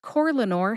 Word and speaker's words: Corlanor: Corlanor has 3 syllables. That's core, like an apple core.